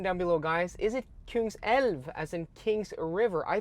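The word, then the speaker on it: Kungälv: wrong, I think, because I was saying like Kungsalv, but it's Kungselv, right? Kungselv, King's River.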